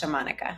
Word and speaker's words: Xamonika: So if you want to connect with me, my social media is XA.Monica with a K. And it's pronounced Shamanika.